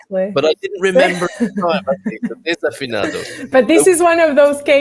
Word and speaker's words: desafinado: pronunciation when he sang desafinado? Oh, okay. I didn't know he did that. Okay, I'm going to correct you there. It's desafinado. Of course it is, because there's an A after it.